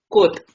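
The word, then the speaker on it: кот: क, ओ, त, कोत। कोत मीन्स बिल्ली, मामा मीन्स मदर।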